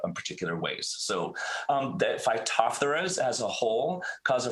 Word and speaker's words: Phytophthora: what is a phytophthora so um um it's pronounced phytophthora as you've heard me say so you can